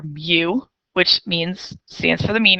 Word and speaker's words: mu: It's pronounced mu, like Mew, Mewtwo, Pokemon.